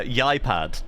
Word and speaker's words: Ieupad: Yeah, we have been uh just given pronun a pronunciation guide three matches in to trying to pronounce the name uh Yipad apparently, which uh hey, fair enough.